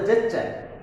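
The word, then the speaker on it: gesture: Next দেখো জেস্চার, এটা উচ্চারণ গেস্টার হবে না, হবে জেস্চার।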